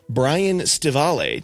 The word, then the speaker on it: Brian Stivale: And I am joined by a special guest, Brian Staval. Did I get your name right, Brian? Did I pronounce it okay?